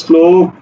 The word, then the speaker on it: শ্লোক: কে ল তাহলে উচ্চারণ হবে কি উচ্চারণ হবে শ্লোক শ্লোক উচ্চারণ হবে দেখো শ্রীগাল তালব্য স এর সাথে